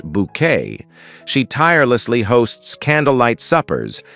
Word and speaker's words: Bucket: Insisting her surname be pronounced bouquet, she tirelessly hosts candlelight suppers and attempts to impress vicers, ladies of the manor, and anyone she considers important.